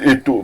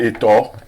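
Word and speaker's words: Eto'o: to- Parce que vous dites Eto, mais c'est Etor. Etor. Etor fils. Voilà la vraie prononciation.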